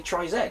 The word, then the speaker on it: Tri-Z: upon where you are I'm gonna say try Zed because I'm English and that's the correct way to pronounce the letter and there were four